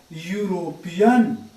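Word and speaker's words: European: The first letter is yaw. First letter is yaw, and yaw is a consonant sound. Yaw is a consonant sound, and before consonant sound we must use a. Before consonant sound we use a. So N is your wrong answer. A is the right answer here.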